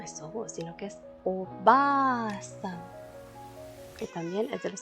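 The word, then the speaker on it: おばあさん: En el caso de sobo, pues ya no es sobo, sino que es oba-san, que también es de los que hemos escuchado bastante. Oba-san.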